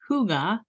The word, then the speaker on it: hygge: alone the first time I heard the word Huga which is spelled h y g g and pronounced Huga was a few years back when our daughter